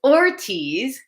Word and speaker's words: Ortiz: So I eat the letter R. So it's Ortiz, but when I say it in Spanish, it sounds like all T's.